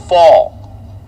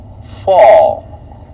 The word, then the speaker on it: Fall: Brian tells me it's Mark Fall. We will make sure to get that right. That's an easy one to remember. Thank you, Brian. Fall.